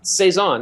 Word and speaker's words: Saison: I'm pronouncing this correctly I'm assuming it's French but I don't know um a caon or Saison Saison yeah it's a it is French it's actually it's a